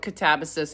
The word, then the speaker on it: Katabasis: So, originally she called this book Catabases. Then she learned that in Greek it's actually catabase is how you're supposed to pronounce it.